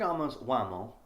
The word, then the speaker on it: Uomo: point I'm probably nitpicking a little bit Fig's wamo that's how you pronounce it is one of those great examples